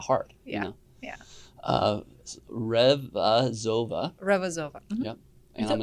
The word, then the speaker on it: Revazova: I'll probably say your last name wrong. Revazova. Is that right? That's right. Yeah, thank you. Revazova.